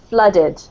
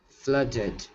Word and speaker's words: flooded: no this word here if you imagine it's spelt with a u it's pronounced more like that it's more like flooded flooded yes that's much better